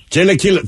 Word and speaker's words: Chilaquiles: Chilaquiles. Chilaquiles.